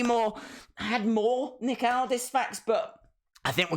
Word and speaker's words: Aldis: Can someone please tell Daze that it's pronounced Aldis? Aldis. as in when you get Nick, you get Aldis.